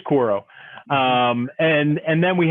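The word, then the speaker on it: Quaero: q-u-a-e-r-o i can't pronounce it's not quoro i think it's koro um and and then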